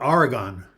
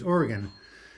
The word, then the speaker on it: Oregon: that was pretty good anybody from the East Coast they always pronounce that Aragon but when I came out to Oregon in 1973 it was Oregon just like the people